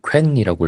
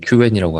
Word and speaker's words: Qwen: 저는 지금까지 퀸이라고 읽었는데 네. 그 오늘 중국분하고 얘기해 보니까 중국분이 Q웬이라고 하길래 아 Q웬이구나라고 이제 좀 알기를 했습니다.